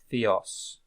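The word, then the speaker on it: θεός: you see this one there is a raising of the the the intensity of the sound in the declining AA so also uh indicates the stress which syllable has the stress so AA is a Theos Theos okay coronos time so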